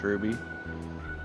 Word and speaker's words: RWBY: RWBY is pronounced Ruby. It's the first letter of the names of the main characters.